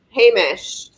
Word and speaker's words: Hamish: How do you pronounce that? You gave it to him. Hamish.